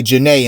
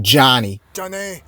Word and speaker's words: Janay: tried her best to help him say janae instead of johnny but he just couldn't do it and she just gave